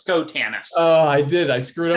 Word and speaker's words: Schotanus: very excited to introduce our guest today scohantis welcome thank you it's a pleasure to be here and it's skotanus oh i did i screwed up the pronunciation